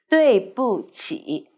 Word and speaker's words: 对不起: 对不起的位对不起 So we need to pay attention. 不 need to light and short.